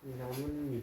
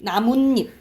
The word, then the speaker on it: 나뭇잎: 연다라 발음하면 어떻게 발음나요? 나뭇잎. 나뭇잎.